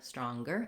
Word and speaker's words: stronger: my online course of which words say NG and G uh like hunger stronger and which say just the NG like singer singing Etc um yes okay